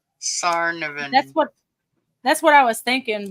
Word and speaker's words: Tsarnaev: Tsarnaev. That's how it's spelled. Tsar. Zarian. The T is silent. Sarnavan.